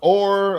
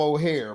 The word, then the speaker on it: Oher: are missing the point oh it's pronounced or okay or I call them O'Hare but the way they making them look it sound like his name is O'Hare you know now in